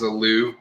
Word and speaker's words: Aliou: That's kind of Aliou Bah is the guy, and that is how you say his first name is Aliou, how it looks.